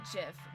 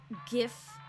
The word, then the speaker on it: GIF: And yes, I say GIF. Deal with it. I'm correct. I will not be taking criticism on that. It's pronounced Jif.